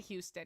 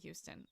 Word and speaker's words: Houston: Am I saying it like am I pronouncing the hue too much? Like 30 to 45 minutes from Houston. Oh, right on. My sim is gonna collapse before she gets to bed. I swear. You said it right. Oh, I did say Houston right.